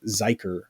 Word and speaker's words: Zuiker: I have Cale Zuiker. I want to make sure. Normally I ask before we start. Did I say that right? That was correct. It rhymes with biker.